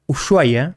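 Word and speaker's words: Ushuaia: Usuaya, si quieren ser lo pronuncio como se debe pronunciar, Usuaya es la ciudad más al sur del planeta.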